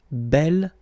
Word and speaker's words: bel: You will have to put this bell form instead of b. Okay? Remember you pronounce it bell.